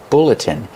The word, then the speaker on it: bulletin: Pronunciation, bulletin. Use the short like look and book.